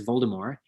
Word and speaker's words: Voldemort: The author insists that it is pronounced with that the T is not pronounced, and that it should be said as Voldemort. However, she herself has been caught on tape saying Voldemort.